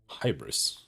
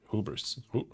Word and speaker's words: hubris: Hybris? Hubris? Oh. Hubris is one of my... Isn't it pronounced hubris?